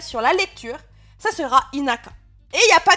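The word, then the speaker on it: 田舎: Bon, lui, voilà, retenez que ces deux kanji-là, l'un à côté de l'autre, ça se prononcera inaka et ça voudra dire la campagne.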